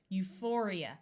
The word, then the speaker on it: euphoria: before the a neurotic this pH will say F and this I will also have a long e sound Euphoria Euphoria means extreme happiness maneuver